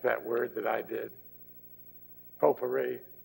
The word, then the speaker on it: potpourri: word that i did potpourri there's no reason it should be pronounced that way if you look at this spelling it's a pop quarry